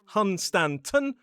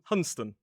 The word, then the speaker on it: Hunstanton: But we drop a few letters and instead of Hunstanton we say Hunston.